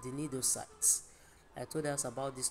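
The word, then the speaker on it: cnidocyte: the cells called the nidocytes. I told us about this nidocyte. This nidocyte houses the organelles, and these organelles are called the nidia. Of course, the C is silent when pronouncing it, but remember to write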